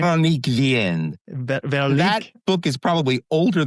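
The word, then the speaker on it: Véronique Vienne: It's Veronique Vanaye. Is that how you say her name? Veronique Vienne.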